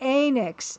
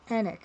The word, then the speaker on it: Enix: I think a lot of people do Enix like end. Enix. Square Enix. But apparently it's Enix?